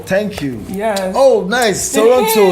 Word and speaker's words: Toronto: Toronto. You pronounce the T. Yeah, Toronto.